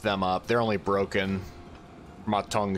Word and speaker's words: Ma Teng: Ma Teng, excuse me. I've been saying his name wrong for so long.